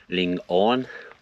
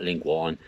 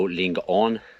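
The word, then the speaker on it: Lingaun: was telling me and also the valley is pronounced Ling on not lingan so Ling on that is it for today's video I really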